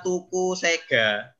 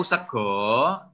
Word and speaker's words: sega: jaowo ya yang terakhir tulisannya tuku Sega tuku Sega tapi yang benar membacanya adalah tuku tuku sego artinya membeli nasi tuku tuku jadi ada